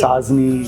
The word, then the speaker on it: Sajni: Sajni. Sazni. Sazni. See, he pronounces it better than me, guys.